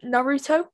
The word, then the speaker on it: Naruto: from the crash bandicoot franchise tucci tiochi and naruto is that how you pronounce his name yeah have some ramen naruto oh i didn't know how to pronounce it